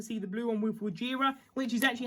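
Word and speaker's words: Wojira: It'd be cool to see the blue one with Wajira, which is actually how you pronounce it now.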